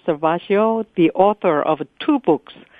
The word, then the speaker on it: Cervasio: it correctly your name sasio that's perfect sasio and in the south of Italy they might prefer chaso but here in the state cervasio is perfect oh okay I just